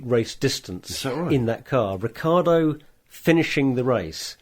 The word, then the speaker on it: Ricciardo: CI in Italian is pronounced ch, so it's Ricciardo.